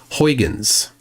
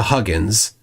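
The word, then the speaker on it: Huygens: they're they're mispronounced like hyans right hyans is a mispronunciation right it's closer to Huggins but I can't even pronounce the correct way right H Huggin like I I don't I can't say it but but people say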